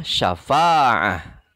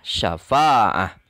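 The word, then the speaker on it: شفاعة: Huruf terakhirnya tak marbutoh yang bertanwin fathah. Karena tak marbutoh yang bertanwin fathahnya, maka tetap tak marbutohnya ini harus disukunkan. Tetap berbunyi ha. Dibacanya syafa'ah. Ditulisnya syafa'atan. Dibacanya syafa'ah.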